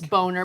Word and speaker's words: Boehner: It's just like Boehner. Come on, it's Boner. But it's okay.